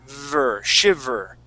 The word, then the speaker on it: shiver: V okay your your top teeth are going to go right on your bottom lip V shiv shiver shiv shiv make that